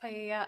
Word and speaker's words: paella: be used to cook paella. I'm not sure if that's how you pronounce it at the party. It's pronounced pya.